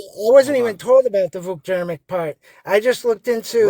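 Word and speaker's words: Vuk Jeremić: Please just answer the Vukjermic is the right way to pronounce it.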